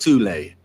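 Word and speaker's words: Thule: a very similar symbol that of the black Sun prior to the rise of the Nazi regime there existed an occult secret society within Germany called the th Society sometimes alternatively pronounced tulle that had subactions within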